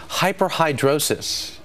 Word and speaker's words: hyperhidrosis: the problem is caused by excessive sweating or hyperhidrosis dr. Lisa that nur is nodding her head because I pronounced it correctly she's a medical contributor and